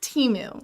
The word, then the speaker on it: Temu: It is Temu. Just lean into it. Who's Team Temu, Teemu, and Team Temu?